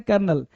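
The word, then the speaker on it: colonel: तो कर्नल को लिखते हैं कोलोनल, अब पढ़ते हैं कर्नल।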